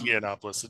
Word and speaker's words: Yiannopoulos: So Milo Yiannopoulos, whose name I'm sure I'm mispronouncing, and It's Yiannopoulos.